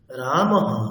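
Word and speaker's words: রামঃ: করতে হয় যেমন রামহ এখানে অকারের পরে বিসর্গ আছে তাই হকারের সাথে অকার যুক্ত হয়ে রামহ এরকম উচ্চারণ হবে হরিহি এখানে ইকারের পরে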